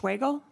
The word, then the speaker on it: Schwagel: Next on the list is Ann, I believe it's pronounced Schwagel. Did I get that correct? You did.